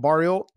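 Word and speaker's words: Barriault: I'm between the Curtis and Chris Curtis, and how do you say his last name? Barrio? Yeah, Marc-Andre Barrio.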